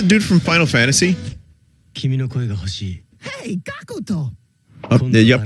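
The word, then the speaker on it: Gackt: I'd love that they're just adding extra syllable. I don't know how that works, but the way it's spelled is G-A-C-K-T. And the way it was spelled there is G-A-C-U-K-U-T-O. Gakuto. I don't know, man. I don't know. I guess that's how you just pronounce it in Japan.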